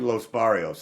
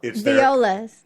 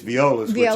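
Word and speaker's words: Viola's: and then we was Los baros I I said it wrong it's oh violas yeah it's violas owned by the bario family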